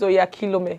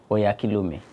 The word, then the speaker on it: Oyakhilome: You're going to pronounce my surname and I'm going to pronounce yours. My surname is Oyakhilome. Okay. Oh yeah. Oyakhilome.